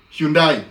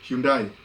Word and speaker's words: Hyundai: wengine, gani nyingine, kuna Hyundai, sio aitanga Hyundai hapa. Hyundai. Ile pronunciation American ni Hyundai.